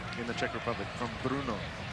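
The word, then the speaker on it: Brno: i played for in the czech republic from bruno spell it b-r-n-o b-r-n-o it's about two and a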